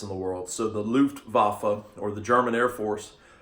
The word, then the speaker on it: Luftwaffe: It looks like Luftwaffe, but it's pronounced Luftwaffe.